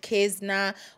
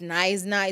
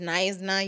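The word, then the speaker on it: Knysna: fact that I said kesna whilst it's nna it's pronounced nna you know um yeah it happens um it is that you know cuz why is the K silent I don't know you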